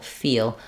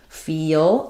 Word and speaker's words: feel: But when you're actually saying it, because the L has a bit of a sound before it, because it's that dark L, not three L's, feel, we're going to have a little bit of that connecting vowel to vowel linking here as well. So sometimes to say that one, slowing down, feel, you can really feel that it has some hidden sounds in it.